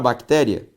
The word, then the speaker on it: bactéria: série série ao separar bactéria teria veja que a sílaba tônica dessas três palavras é sempre a penúltima logo todas elas são palavras paroxítonas só que gente se